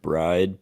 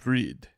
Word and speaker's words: Bride: at the very end they pronounce it correctly it's like breed it sounds like BRD yeah I think there's like a little hint of the e sound in there breed huh Evo ones